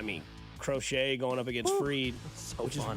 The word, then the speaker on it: Fried: crochet going up against Freed, which fun. is weird that it's spelled fried, but it's pronounced Freed.